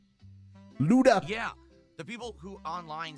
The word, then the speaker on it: Luto: I was pronouncing it Luda. And a lot of people like, oh, why does he say such a hard T?